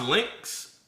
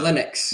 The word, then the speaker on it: Linux: So, is it is it is it pronounced Lynx? Uh Linux.